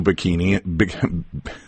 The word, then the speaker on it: Pighini: Our guest is Sue Pighini.